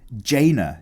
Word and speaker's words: Jaina: love your artwork but for your information it's pronounced Jaina she's a frost mage yeah Thank You Billy not China China Jaina Proudmoore Oh also I got some